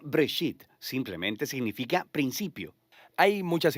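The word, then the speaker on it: בראשית: Génesis viene de una palabra hebrea, se pronuncia Breshit, simplemente significa principio.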